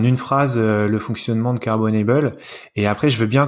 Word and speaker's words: Carbonable: Donc, dis Carbonable, excuse-moi, je le dis à l'anglaise, mais faut peut-être dire Carbonable en français.